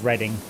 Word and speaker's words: Reading: What's the obvious way of pronouncing it? either Reading or Reading. Yes, it is Reading.